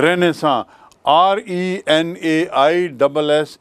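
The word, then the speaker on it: Renaissance: जाने इसको अंग्रेजी में रहने भी कहते हैं रेनेसां और लेने I double S ए एन सी उच्चारण देखिए रहने सॉन्ग रहने सा मतलब पुनर्जागरण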